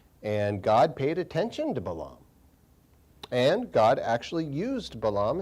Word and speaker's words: Balaam: probably a couple years or so ago, about Balaam. Most people pronounce his name Balaam, B-A-L-A-A-M.